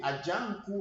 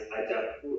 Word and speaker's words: Ajaku: Is it Ajanku or Ajaku? It's Ajaku. Ajaku. I pronounce differently, but I pronounce it as Ajaku.